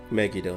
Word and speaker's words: Megido: it's just completely unfair megido not mag I thought it was pronouncing it as megie though either it's my mic or I did pronounce it wrong I swear Jack while